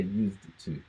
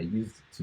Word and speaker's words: used to: So we don't say used to. I used to do this. You just say used to, okay? So you don't need to say, you don't need to pronounce the D, okay?